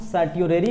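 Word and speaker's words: certiorari: तो now mandamus, सर्च्योरेरी, इसको हम सर्ट्योरेरी बोले या सर्च्योरेरी बोले, आप प्रोनाउंस कर सकते हैं अपने लैंग्वेज में, बट मैं सर्च्योरेरी बोल रहा हूँ, ठीक है।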